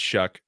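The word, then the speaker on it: Shough: is And so that how you you just kind pronounce of that name? yeah, it's Shuck.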